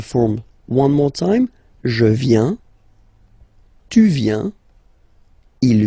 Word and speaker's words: viens: First form, je viens, final S not pronounced. Je viens, remember, I-E-N, ien, je viens. Okay, tu viens, final S not pronounced.